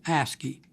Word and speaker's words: ASCII: oldest such character encoding scheme is called ascii pronounced ascii ascii stands for american standard code for information